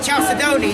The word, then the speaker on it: chalcedony: a challenge sedona from transylvania chaffedonia if i'm pronouncing it correctly yeah that's it chalcedony yeah that's that's it yeah the fourth and